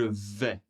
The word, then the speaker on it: vais: Allez, pour la première personne, je vais. Je vais. Alors, le premier S, on entend bien, il n'est pas prononcé. Le A et le I, ensemble, font le son est. Je vais.